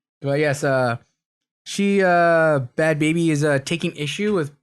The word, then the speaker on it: Bhad Bhabie: call it but a bad baby yeah bad baby felt all weird yeah uh quick side note to that uh i think i mispronounced her before and called her bad barbie oh i didn't feel bad